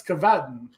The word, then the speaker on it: Cavatton: us how you doing so the the first pronunciation was the correct one okay you always stick